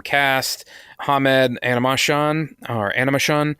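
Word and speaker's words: Animashaun: Shaun our Animus Shaun looks like his name is almost like spelled like animation I did it does look like that that's something I found an interview with him and he it's he says it like an emotion or something like that that's a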